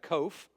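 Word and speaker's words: qof: sound and you've got kof rhymes with loaf kof looks like a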